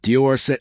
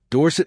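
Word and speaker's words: Dorsett: Tony Dorset is pronounced Diorset emphasis on the first syllable, which is a change he made from his original pronunciation of Dorset emphasis on the second syllable.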